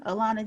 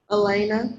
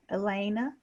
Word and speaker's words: Elena: how about miss alana ilana g am i pronouncing your name right elena elena i'm sorry elena so what's one of